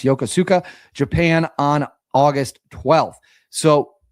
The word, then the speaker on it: Yokosuka: Benfold subsequently returned to the home port of uh I believe that's pronounced Yokosuka, Japan on August 12th.